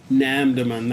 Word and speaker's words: Namdaemun: the NAMM demand market NAMM demand that's how you say it and one of the